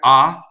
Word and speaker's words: ha: going on the word ah H is silent in Italian right ah so it's